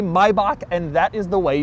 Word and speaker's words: Maybach: which is right here this is the correct way to say it my bach anybody who says maybach or maybach or my back it's all wrong my bach is correct people have tried